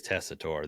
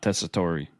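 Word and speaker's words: Tessitore: Barrett and Joe tessore it is tessore they did say it like five times this raw not tessori whoops that's okay though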